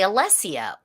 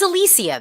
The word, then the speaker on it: Alicia: like latin latinx people and they say alessia but like i said the only other time i've ever had alessia as the pronunciation for my name has been with um brits like people from the people from the uk so i don't know i don't know it's alicia though yeah no i know